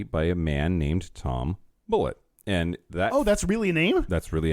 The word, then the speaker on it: Bulleit: in Lawrenceburg Kentucky by a man named Tom bullett and that oh that's really a name that's really a name that's why it's spelled the way that it's spelled because it's